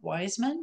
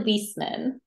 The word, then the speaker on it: Wieseman: everyone and we're so glad to have wisman did I pronounce that right it's actually whisman whisman okay great good to know that of